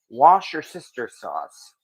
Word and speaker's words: Worcestershire: You know, the joke that nobody knows how to pronounce Worcestershire sauce. It's Worcestershire sauce. Or as a lot of people are saying these days, wash your sister sauce.